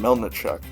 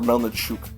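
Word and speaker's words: Melnychuk: It was that Russian kid they signed, Melnichuk. Or Melnichuk, sorry, is how they say his name.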